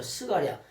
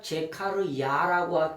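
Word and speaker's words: זכריה: 99%가 다 틀려 말이다 99가 발음이 다 틀렸어 아까 그렇죠 스가랴 스가랴 제카르 야라고 표현했다고 하면 아이 속에 하나님이 계시구나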